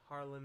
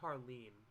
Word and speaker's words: Harlan: we see harley uh harlan that night i always said harleen like he's like feel free to pronounce him like that i don't have an